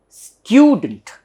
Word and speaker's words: student: should be pronounced as student, student. So there is a stress here for stew syllable, stew, and there is ya here, therefore it should be stew. It is not student, it is student.